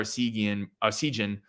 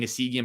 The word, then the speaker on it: Essegian: A, to free up Chucky a little bit, but B, to get a guy like Connor Essegian. I keep always saying Essegian, but I know it's Essegian.